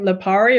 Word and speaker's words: Lipari: Lipari or Lipari?